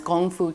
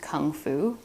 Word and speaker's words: gongfu: In Asian brewing, also known as gongfu cha or making tea with skill, by the way, gongfu can also be pronounced kung fu.